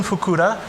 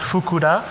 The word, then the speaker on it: Fukuda: in 1966 they hired jun fukura and that is pronounced fukuda he was an action